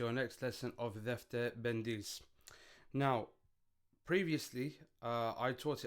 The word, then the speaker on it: Pendis: Now, previously, uh, I taught it as Bandis, but I've done a bit of research and I've realized a lot of people also say bendis, which makes a lot of sense to me because it's it's spelled out uh pi rather than p ali. So, moving forward, I will be changing it and saying bendies uh rather than the bundis.